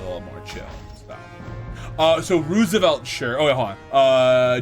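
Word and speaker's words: RSVLTS: uh Roosevelt shirts yeah so it's rsvl TS I think that's how it's spelled but it's Roosevelt the the brand yeah the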